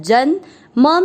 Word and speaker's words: जन्म: पहला चरण ज के साथ आधा न जन, म में अ मिक्स करेंगे जन्म, क पूरा है क